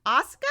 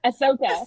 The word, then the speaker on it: Ahsoka: I don't even know how to pronounce this character. I think they're from Star Wars. Asuka? Ahsoka? Ahsoka? Ahsoka.